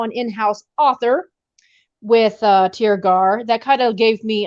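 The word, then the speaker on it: Tirgearr: was an acceptance from my publisher called It's pronounced tear gar publishing she is a small press but she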